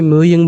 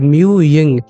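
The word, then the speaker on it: Mu Ying: को लकवा मार जाएगा इस वजह से हम इसे म्यू यंग बोलेंगे मतलब म्यू यंग अगर तुम्हें मेरा भरोसा नहीं होता तो जरा पांच छह बार म्यू यंग यंग रिपीट करके बोलो स्पेलिंग होती है एम यू वाई आई एन जी वाई आई एन जी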